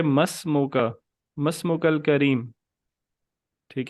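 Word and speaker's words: ما اسمك: इसमें अलिफ साइलेंट हो जाएगा। तो इसको पढ़ेंगे मस्मुका, मस्मुकल करीम।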